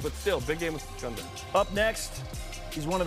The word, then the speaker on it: Gonzaga: That's how you say it, by the way. It's not any other way. The Zogs. What? Gonzaga.